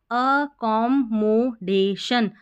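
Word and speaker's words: accommodation: देख लेते यहां पर अ ए को हम अ पढ़ेंगे double C ओ एम कॉम फिर एम ओ मो डी ए डे और शन अ कमोडेशन अकोमोडेशन अकोमोडेशन ऐसे फिर ये स्पेलिंग देखिए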